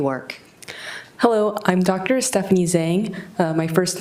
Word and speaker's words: Zheng: Stephanie Zang.